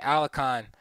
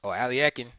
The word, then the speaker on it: Alekhine: Once the pawns, Max Erver said, who defeated Alakhan or Alekhine, as some people pronounce it, for the world championship in 1935.